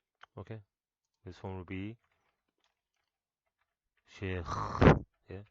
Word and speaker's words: Sheikh: This is the front and back of Sheikh. See, notice किया मैंने pronunciation शेख कैसे किया मैंने. शेख शेख नहीं होता, वो तो मिल्क शेक बन जाएगा. शेख ये बोलना ज़रूरी है एंड में, ठीक है ना.